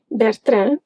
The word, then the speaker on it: Bertrand: Bertrand, that's how we pronounce it, is a bookstore here in Portugal, and on their website you can find audiobooks.